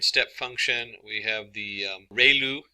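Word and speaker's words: ReLU: We have the ru. It's pronounced like ray the ray of from the sun and lu like a name.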